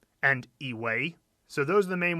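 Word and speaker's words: 以为: And in this character, 以为, it's always a second tone as well.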